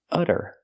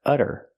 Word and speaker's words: utter: it was utter chaos we see the T pronounced as a fast D because it's between vowels utter utter it was utter chaos